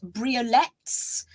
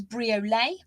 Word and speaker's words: briolette: over we have got briolettes sometimes pronounced by some Focus briolet I pronounce them as briolette they are absolutely magnificent